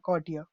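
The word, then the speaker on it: courtier: कॉर्टियर, कॉर्टियर बोलते हैं उसको, आर साइलेंट होता है।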